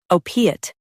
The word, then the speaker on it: opiate: Stress O and keep piate soft.